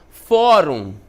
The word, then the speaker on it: fórum: Então, fórum, né? Fórum é uma paroxítona terminada em UM, olha só aqui, ó, terminada em UM, ela vai receber acento.